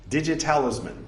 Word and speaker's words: DigiTalisman: DigiTalisman, it's spelled like it sounds. Digit, talisman, overlap the T's, turn the 2 T's into 1 T.